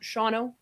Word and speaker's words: Shawano: at Miss America is I was like somebody pronounced this and Shawano and I'm like Let It Roll Just shano that's it give him something like economowoc and